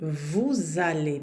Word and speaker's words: vous allez: por exemplo a frase vous allez bien, aqui esse S você vai ter que pronunciar ele e ele vai ter no som de Z.